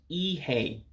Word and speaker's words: ihe: And then the E's make an A sound. So again, that first word becomes Ihe to our English-speaking ears.